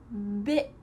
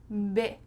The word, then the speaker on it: bit: Bit, beat, bet. Here we have a short I. Bit. Your mouth is kind of raising into your nose here.